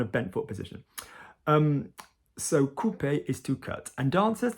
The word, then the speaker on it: couper: That's still used in French, couper. Couper, O-U here, not couper.